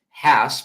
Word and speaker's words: Hass: First of all, why would so many people, if we're misremembering, if it's always been Hass avocados, Hass, which rhymes with the word pass, how would we misconstrue